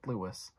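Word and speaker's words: Thewlis: their names, David Lewis, it's spelled T-H-E-W-L-I-S, so... It sounds like I'm trying to say a Lewis, but have a speech impediment. I don't, and I'm not trying to make fun of people who do. I'm just saying that's just how it's pronounced.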